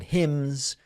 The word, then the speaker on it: hymns: It was 3+ hours of stories and prayers and hymns. Is that how you pronounce it? Hymns? The N is silent.